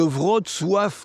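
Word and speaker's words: Wrocław: Donc là la ville de Vrod Sof que je prononce pas forcément bien, enfin je prononce pas forcément bien le nom, Vratislavie son ancien nom, Brestlao en allemand.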